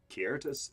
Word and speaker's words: Kiartis: So as you're making your way up there, it's Kiartis. Am I pronouncing that name right? Yeah, it's Okay. the C's. It's spelled like it's pronounced like a K.